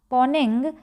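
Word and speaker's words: Mponeng: लीजिए, ये है हमारा पोनिंग या एम साइलेंट है यहाँ पे, ये है हमारा साउथ अफ्रीका में, ये है हमारा साउथ अफ्रीका में।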